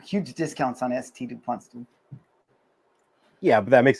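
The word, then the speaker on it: S.T. Dupont: Somebody was like, "Hey, bro, you know it's not a Saint DuPont, it's ST DuPont."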